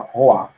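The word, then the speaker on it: roi: Que se escreve Roy. No caso, você fala Roa.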